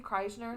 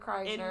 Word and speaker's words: Kreischer: stand out with Burt how do you say his last name Chrysler yeah Bert Kreischer Nate he did a